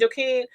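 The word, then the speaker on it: Joaquín: Because Rock and, Joaquin, I think she called it, that's how it's pronounced, Joaquin, will most likely start doing business together, so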